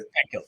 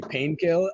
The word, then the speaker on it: Pankil: Pankil, yes. Okay. Pankil? Yeah, it's okay. I want to pronounce it correctly for you. My professors used to call me Painkill.